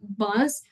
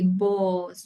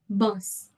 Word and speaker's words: bus: So, for example, we're going to say bus. We don't say boss, right? We say bus. It's not an a. It's not that open.